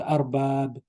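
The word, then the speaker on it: أرباب: Masters, it's called arbab. Arbab. Okay, arbab.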